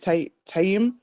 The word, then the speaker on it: tayammum: Tayyim. If you Tayammum.